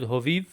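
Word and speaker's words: հովիվ: with ini and hyun, it is read phonetically as is, hoviv, without the exception where if hyun is after the ini, we get a u sound. So this word shepherd alone would be hoviv, but because of the definite article the, when we add the letter it, it doesn't change the pronunciation.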